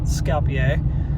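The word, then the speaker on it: Skopje: I learned how to pronounce the capital of uh North Macedonia. It's called Scapier.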